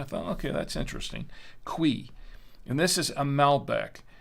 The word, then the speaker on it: Cuy: Trader Joe's of course I thought it was ki ki ki that's what I thought it was but when I looked it up and did some research on the wine it's actually pronounced quei qu it's que which actually makes sense but